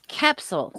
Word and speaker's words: Koepsell: It's Koepsell, so I need to ignore the O.